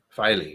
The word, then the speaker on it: Filey: Who knows where the STR came from, Filey Bay, but Filey, yeah, you got it. Rhymes with Riley.